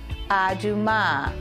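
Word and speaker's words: אדומה: a dress a beautiful dress the dress is pronounced se la seam La for dress and here is a red shirt to say aduma which is a red shirt remember the word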